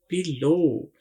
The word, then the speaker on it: below: देखिए BELOW, बिलो। इसमें एक आवाज तो बी की है और दूसरी LO की आवाज है। तो W की एज सच कोई खास आवाज नहीं है, लेकिन स्पेलिंग आपने ये याद रखनी है, BELOW।